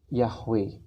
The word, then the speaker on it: Yahweh: nama personal Allah kita adalah yhwh atau dibaca yahwe dan nama inilah yang